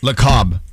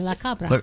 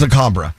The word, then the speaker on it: La Cabra: La Cab. That's how you say it? La Cab. Isn't it La Cab? A B R A, La Cabra. It's La Cabra.